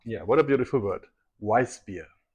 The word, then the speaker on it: Weissbier: Weissbier. Weissbier.